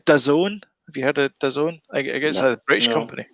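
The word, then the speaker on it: DAZN: that kind of stuff it's d-a-z-n but it's pronounced the zone uh crackle um shudder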